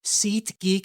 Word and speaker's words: SeatGeek: I've been told that actually they've been a sponsor for a little while now, and apparently my pronunciation sometimes a little off. SeatGeek. I sometimes don't enunciate my T's.